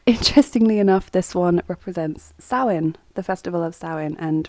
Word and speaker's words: Samhain: So it's spelt like that, but it's pronounced Samhain.